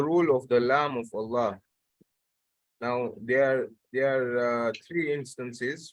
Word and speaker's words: Allah: So the first one is when the letter Lam of Allah is pronounced heavily and with a full mouth when the last letter of the word prior to Allah has a fatha or a dhamma.